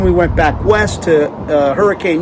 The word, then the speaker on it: Hurricane: went back west to Hurricane, Utah, or Hurricane, let me pronounce that correctly, and then we worked our way back east to Moab, where we're at right now.